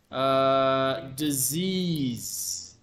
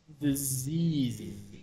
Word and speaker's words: disease: Illness, sickness, disease. Disease. With the Z's. Everything sounds like a Z.